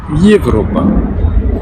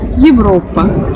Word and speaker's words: Европа: qu'on retrouve par exemple comme dans le mot Европа, Европа.